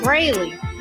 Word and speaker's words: Brayley: Don't Pronounce your name, because he called you something. Brayley. Brayley. He said it right.